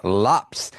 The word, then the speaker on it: Lopes: So So apparently pronounces his last name as Lops rhyming with hops.